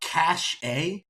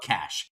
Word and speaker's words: cache: they said cash a they are talking about cash c-a-c-h-e cash what is it let's talk about it is it possible that they are suffering a cash attack where is cash